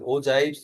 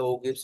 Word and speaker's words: ogives: Smooth frequency curve, ओजाइब्स जिसको बोलते हैं, ओजाइब्स या ओगिब्स, what ever the pronunciation, OGIVES, ओजाइब्स या ओगिब्स।